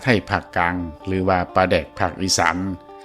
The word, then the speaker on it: ปลาแดก: ที่ แรก แต่ ว่า ชาว อีสาน หลาย พื้น ที่ ออก เสียง โต อักษร รอ ล กับ อักษร ด กลับ กัน จัง เฮ็ด ให้ ปลา แลก กลาย เป็น ปลา แดก ใน ที่ สุด คำ ว่า แดก ใน